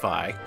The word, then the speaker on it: Vay: It's called Vi, and it's spelled Vay, but it's pronounced Vi. This is probably the least liked of their Sega CD games. Not many fans of Vi out there.